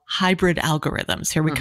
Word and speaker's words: HAIbrid: You're developing what you call hybrid algorithms. Here we mm-hmm. come on the hybrid. And that's spelled HAIbrid.